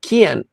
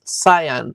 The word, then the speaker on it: Kian: So So his her uh boyfriend later on it's his name is pronounced Kian. I I I always in my head it was cyan like the color.